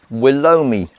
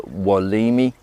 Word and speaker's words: Wollemi: my willow me pine i did in fact pronounce it wrong a moment ago if i lift this leaflet up for you you should be able to see the walimi pine on there that's the name of it and as it says